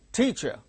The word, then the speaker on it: teacher: second syllable gains stress teacher first syllable gains stress so in the word